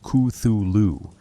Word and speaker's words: Cthulhu: Cthulhu, supposedly pronounced Cthulhu, according to Lovecraft's phonetic guidance, though he acknowledged the human vocal apparatus could not properly render it.